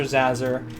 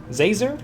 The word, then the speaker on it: Zazzer: It's Professor Zazzer. Zazer? Like laser with a Z.